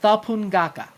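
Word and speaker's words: Thapunngaka: It's called Thapungaka.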